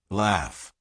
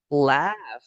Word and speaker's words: laugh: Because in this word, gh is pronounced like an F.